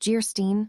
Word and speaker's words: Gerstein: Anne of Jerstein pronounced Gerstein, or the maiden of the mist, by the author of Waverly.